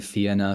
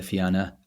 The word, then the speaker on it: Fianna: Some people say the Fianna, some people say the Fianna. I don't really know what's correct. I'm sure both are correct.